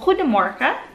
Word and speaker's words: Goedemorgen: Ang G kasi nila dito, dapat may pronounce na ha yung iluwa mo yung playmanan doon sa ilalim ng bubunlan mo. So Goedemorgen.